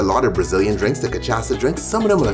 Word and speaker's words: cachaça: Ladies and gentlemen, the Cachaça Batida, okay?